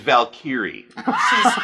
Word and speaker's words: Valkyrie: part two of this excuse me it's Valkyrie all right you got she's useless and we'll talk about that when we get there you got to put the accent on the proper syllable it means something completely different a salel like that